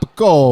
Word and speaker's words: capicola: So I mean, it's capicola, salami, bologna, ham. Wait, you got to say it right. It's what? Gabagool.